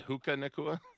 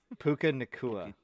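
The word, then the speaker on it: Puka Nacua: Did he just say Hookah Nakua? Puka Nakua.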